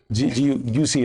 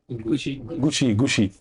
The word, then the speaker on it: Gucci: You say this person is wearing branded T-shirts, she's wearing a branded, a handbag, she's having a, how do you pronounce it? Gucci, right? Gucci.